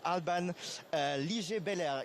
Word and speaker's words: Alban Liger-Belair: Today I'm joined by Alban Liger-Belair. Is the pronunciation correct?